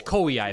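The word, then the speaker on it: Koei: Koi Ki strategy strategy game, right? Yeah, it's Kaii.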